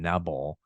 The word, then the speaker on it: Nebel: the day, Long John Nebel. So he went by that. So thanks for using the incorrect pronunciation, dude. And the long E is the right one.